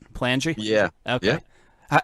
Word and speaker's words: Palangi: Palangi? Yeah. Okay. Yeah. How many times does your last name get butchered?